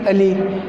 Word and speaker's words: अली: बड़ी मात्रा आती है, लेकिन बोलने में और पढ़ने में हमें एक जैसे लगते हैं, अली अली, लेकिन उच्चारण इनका थोड़ा अलग होगा। जैसे अली और ये हो जाएगा अली।